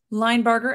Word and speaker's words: Linebarger: my guest today Linebarger am I saying your name correctly you are saying my name correctly yes Line barber just like it's spelled wonderful um uh so